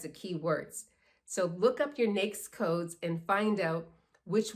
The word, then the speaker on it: NAICS: NAICS, N-A-I-C-S. You're going to hear this often. People pronounce it in different ways. I'm going to call it the NAICS code.